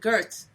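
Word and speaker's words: Göth: I think Goeth, Goeth, or with an E at the end, not Goethe, Goeth.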